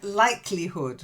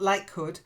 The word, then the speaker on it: likelihood: yay well done okay then likelihood not like Hood likelihood try it likelihood yeah if something is